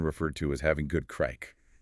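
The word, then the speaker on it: craic: Often referred to as having good crack. Let's clarify crack again. It sounds like crack. It does. It's spelled C R A I C.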